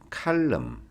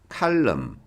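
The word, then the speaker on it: column: 칼럼. 칼럼. 됐죠? 칼럼. 얘가 발음이 안 돼. N이 발음이 안 돼요. 자, 칼럼 됐죠?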